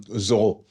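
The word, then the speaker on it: Zoreaux: Give it up to Zoro. Oh, it's pronounced um Zoho.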